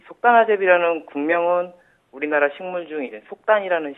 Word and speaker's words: 속단아재비: 이 속다나제비라는 국명은 우리나라 식물 중에 속단이라는 식물과 가장 유사하여서 속다나제비로 붙여지게 되었습니다.